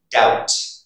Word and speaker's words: doubt: And the second rule you should remember is the letter B is not pronounced before the letter T. For example, doubt, debt, subtle, doubtful.